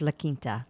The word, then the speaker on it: La Quinta: La Quinta? It's La Quinta. La Quinta is not. But you're saying it like it's written.